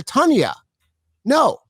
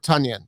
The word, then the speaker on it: Tonyan: tanya no i wouldn't so why would i call robert tanyan tanyan i wouldn't hey dude when the player themselves tell you how to pronounce their name or you hear them say it that's how you pronounce their name end of story it doesn't matter what the reasoning is nothing no that's robert tunyan you just screwed